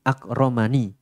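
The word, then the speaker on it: أكرمن: Ya dengan diberikan segala hal dari kenikmatan dunia, ini bukti akromani, itu kalau dalam bahasa Arab nggih. Yaitu robbi akromani, tapi ni nya itu ada ya nya yang dihapus, sehingga bacanya akroman.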